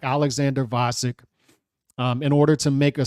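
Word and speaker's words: Gvozdyk: Vasek with a silent G.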